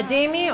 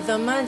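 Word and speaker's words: ذمي: A dhimmi or a dhamma, depending on the pronunciation, is a tolerated people.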